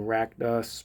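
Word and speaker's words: Rakdos: And then Rackdos, Patron of Chaos. That's how you pronounce that word.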